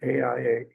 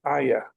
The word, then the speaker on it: AIA: able to describe our AIA. Forgive me for the pronunciation. It's Aya. Okay, that's the way you pronounce it.